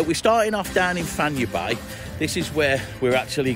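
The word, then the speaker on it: Fañabé: If you're ever down this way, now Fanya Bay is not Fanaby, as a lot of people say, as we pronounce it in English. It's Fanya Bay, and this is the what we call an Argentinian type barbecue.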